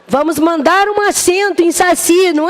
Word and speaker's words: Saci: lindas do meu coração e a palavra Saci tem a sílaba tônica onde na oxítona ou na paroxítona Pampa o relógio fazendo